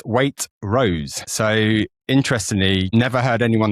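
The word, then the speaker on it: Waitrose: definitely one of these people, we have been pronouncing Waitros incorrectly for hundreds of years. So, Food Bible recently wrote this week that it's not pronounced Waitros at all. It's weight rose.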